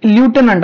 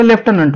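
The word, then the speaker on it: lieutenant: आहेत अमबेसडर ही वॉज लुटनंट आता याला काही लोक लुटनंट वाचतात काही लोक लेफ्टनंट वाचतात पण तुम्ही काय वाचा याला लेफ्टनंटच वाचा काय वाचायचं तुम्हाला ह्याला ल्युटनंट वाचायचं नाही याला लेफ्टनंट वाचायचंच पण स्पेलिंग आहे ल्युटनंट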